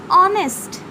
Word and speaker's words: honest: इसके कुछ एक्सेप्शंस भी हैं, जैसे ऑनेस्ट, एन ऑनेस्ट मैन, HONEST, ऑनेस्ट जो कि एच से स्टार्ट होता है लेकिन उसका प्रोनाउंसिएशन अ होता है, इसीलिए ऑनेस्ट के आगे में एन लगता है।